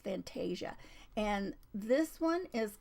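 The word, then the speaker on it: Fantasya: it's from Etsy and I believe she probably pronounces the name of her store as Fantasia digitals but it's f a n t a s y a digitals so I think it's Fantasia and this one is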